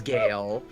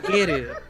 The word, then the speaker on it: Geru: it is supposed to be heard as Gale, and that is if you take the English Oh my God. pronunciation. Oh my So, god, you I'll weeb! grant you that. Weeb! But it's Geru for the actual pronunciation.